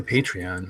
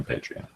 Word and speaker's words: Patreon: I say Patreon. I don't know. Patreon. Yeah, Patreon. I always, being Polish, I put the accent on the penult, so second to last syllable.